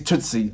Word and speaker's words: Tusse: So in the native language, it's Swedish is Tusse. And I hope I'm pronouncing that name right as well.